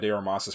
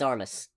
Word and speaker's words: Armas: Like from from everything I've seen, people genuinely enjoy Anna Armas's performance in this movie. It's Armis. Well, it's Armas. Armis. The the pronunciation is on the first syllable.